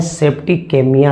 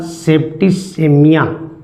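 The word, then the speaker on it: septicemia: रखिएगा वो मरे हैं सेप्टिकेमिया से। ओके, याद रखिएगा सेप्टिसेमिया, याद रखिएगा इसका जो प्रोनाउंसिएशन है वो सेप्टिसीमिया है। याद रखिएगा, सी के बाद यदि ई हो तो उसका उच्चारण स किया जाता है।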